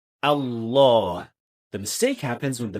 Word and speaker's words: Allah: Finally, another very common mistake is pronouncing the heavy lamb in the best name impro not fully heavy or fully light. Normally when we say the best name we say Allah the mistake happens when